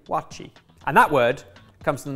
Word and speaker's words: waakye: The dish is spelt W-A-A-K-Y-E, pronounced, to my understanding, wachi.